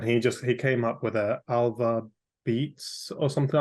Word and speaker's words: ALVABEAT: Is that how you pronounce it? Yeah, ALVABEAT.